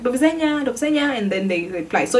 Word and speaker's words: do widzenia: They say do widzenia, like very very loudly, like do widzenia, and then they reply.